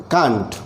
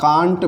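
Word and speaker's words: can't: नॉट हो जाता है कांट। इसके दो प्रोनाउंसिएशन बनते हैं, इसको आप कांट भी प्रोनाउंस करते हैं और इसी को आप कैंट भी प्रोनाउंस करते हैं। Both the pronunciation are correct.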